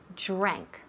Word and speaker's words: drank: Primero el verbo drank del pasado. Yes, I drank, pasado. La DR, now, fijaos muy bien en la pronunciación. Drank, no drank. Drank, no. Drank, drank, drank.